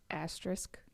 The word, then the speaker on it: asterisk: just live numbers but I think it's asterisk asterisk I always have said I know what you mean when you say it but I don't know how to say it star it's a tricky word it is a tricky one yeah Lindsey English major asterisk thank you on that yeah it's like Risk at the end to risk okay I